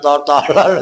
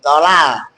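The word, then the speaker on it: طلل: Kaanahu bukan tolol bacanya tolol lagi tolal.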